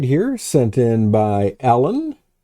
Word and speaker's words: Alun: We have this image right here sent in by Alun. Alun. It's A-L-U-N. I think the pronunciation is heavy on the A-L, less on the U-N.